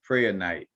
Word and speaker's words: prehnite: Per night, some people, I might be kind of catching the H too strongly.